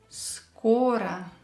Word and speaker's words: Скоро: So here we have O, which is stressed, and we are not allowed to change it. We still will pronounce it as O. And we have O, which is not stressed, so we will pronounce it as A.